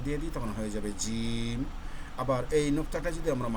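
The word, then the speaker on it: ز: আর যদি মাছ ওপরে একটা নোক্তা দিয়ে দিই হয়ে যাবে কি জা। জা বর্ণটির উচ্চারণ হলো আমরা যে ঝগড়া, ঝই ঝই, ঝি ঝি, ঝুমঝুম, এই ঝা।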